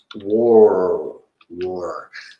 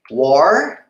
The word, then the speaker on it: were: Cuidado, pessoal, para não confundirem a pronúncia com a were e were. São palavras diferentes. A pronúncia, o som é diferente, o significado são diferentes. Isso aqui é mais fechadinho, ó. Were. Were. O outro é war, a palavra war é guerra. E where é onde, ok?